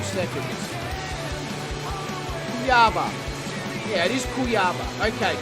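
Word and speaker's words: Cuiabá: I'm going to just figure out how to pronounce this place. 2 seconds. Cuyaba.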